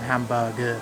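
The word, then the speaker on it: ハンバーグ: In Japanese it's called Hamba-gu.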